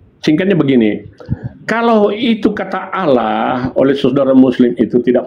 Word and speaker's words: Allah: Kenapa dibaca Allah bukan Allah? Karena begitulah pengucapan yang diucapkan oleh orang-orang Arab dahulu ketika mereka menyebutkan nama Tuhan mereka sebagai seorang muslim, Allah dibaca tafkhim tebal.